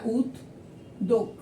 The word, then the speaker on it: উদ্যোগ: তাহলে এখানে দ ডাবল হয়ে যাবে, দ ডাবল হয়ে যাবে। দ যেহেতু অল্পপ্রাণ বর্ণ, এক্ষেত্রে আর অতিরিক্ত কোনো অন্য কোনো বর্ণ আসবে না, দ হুবহু দুইবার বসবে। আমি জফলার একটা আলাদা ভিডিও